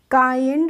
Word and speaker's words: kind: ये भी फ्रेंड्स वैसा ही वर्ड है KIND, तो इसको हम किंड नहीं पढ़ेंगे, यहाँ पे भी आई का प्रोनाउंसिएशन आ हो रहा है, तो क्या पढ़ेंगे? इसको हम पढ़ेंगे काइंड।